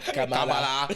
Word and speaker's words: Kamala: Every syllable. Kamala. With the tongue roll.